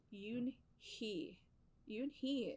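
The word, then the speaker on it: Unhei: e i it's pronounced yoon he you and he it's uni like you hey like hey you and so they don't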